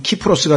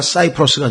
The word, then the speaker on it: 키프로스: 지난번에도 말씀드렸습니다만은 영어의 이 C자는 라틴어로는 K로 발음이 됩니다. 그래서 여기서는 키프로스가 되고 케사르가 되죠. 그죠? 케사르가 되고, 이 C로 발음이 되는 K로 발음이 되는 반면에 영어로 오면 케사르가 시저가 되고 키프로스가 사이프러스가 됩니다.